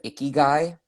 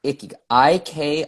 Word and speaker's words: Ikigai: it so much that I didn't want to mispronounce it. So there is, you ever heard of Ikigai? Ikigai? No. Ikigai, Ikigai.